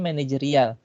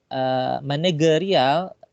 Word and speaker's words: manajerial: yang tepatnya manajerial jadi kata menejerial ini kurang tepat ya bukan pakai g tapi pakai JNE kyuhyun-ah tanya pengambilan serapan itu juga mengikuti lidahnya kita ya lidahnya kita terbiasa dengan pengucapan Seperti apa ama negeri al-faidh dalam bahasa Indonesia agar lebih diucapkan agar lebih mudah diucapkan adalah manajer manajerial Jadi pakai j harusnya Kemudian untuk yang pilihan